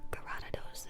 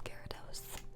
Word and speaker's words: Gyarados: show you guys my Garados V and my Garados V-Max. I am aware his name is Gyarados. I will take no criticism on my pronunciation.